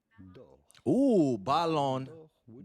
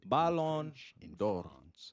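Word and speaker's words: Ballon: And we are looking at how to pronounce with a typical French pronunciation the name of this annual football award presented by French news magazine France football award for football players. Past awarded players include Cristiano Ronaldo or Lion Messi. We are looking at how to pronounce Balon. Balon how it would be said.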